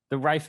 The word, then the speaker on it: Rife: Is it the Rife Machine?